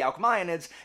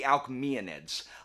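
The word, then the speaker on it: Alcmaeonids: and so I put I tend to pronounce things the way that Latin is pronounced so the AES I'm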